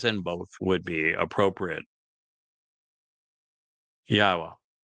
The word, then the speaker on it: Yahweh: Yahweh, again, the proper pronunciation of the name of Eloah, God, as